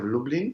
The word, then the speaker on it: Lublin: it's the city of lublin so it's like dublin but with an l now lublin has a